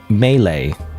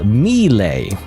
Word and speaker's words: melee: it cuz I pronounced I used to pronounce it as uh Mle. So not even Mle, not even Melee. Melee is correct one. Mle is the kind of like the common misprononunciation, but I always said it.